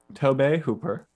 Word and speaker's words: Tobe Hooper: always just assumed that it's toby but tobey tobe hooper tobey hooper um you can watch this movie